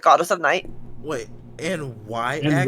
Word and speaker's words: Nyx: Wait, N Yx. Y would be Nyx. I about to say that's Nyx, not Knox.